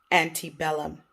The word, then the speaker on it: antebellum: for this lesson is ante bellum that's how you would say in latin but i'm going to actually say it using the anglicized pronunciation because that is how you will hear it antebellum antibella means before